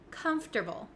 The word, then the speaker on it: comfortable: a little bit tricky there are some extra letters in there that we don't really pronounce and we switch around